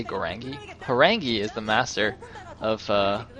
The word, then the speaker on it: Horang2: why I'm calling him harangi when I wrote Harang 2 in the overlay that's not a typo uh apparently the two is like pronounced as an e in Korean I'm not really sure